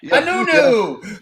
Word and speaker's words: Anuenue: Anuenue. Yeah. And I like right on the left of it, I pronounce it phonetically, or like nu next to the you'll see it underneath the picture over here.